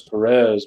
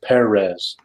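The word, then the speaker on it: Pérez: kind of like Perez everyone says Perez but apparently that little thing above the e means you're supposed to pronounce it Perez correct always thank you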